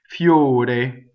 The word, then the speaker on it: fiore: It doubles the F. Ffiore. Okay, so ffiore has a flipped R, and it has two closed vowels. The O and the E are closed.